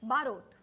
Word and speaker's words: बारोट: जैसे गुजराती में दादी को बा बोलते हैं तो वैसे याद रख लो हाँ, बारोट बा और रोटी का रोट.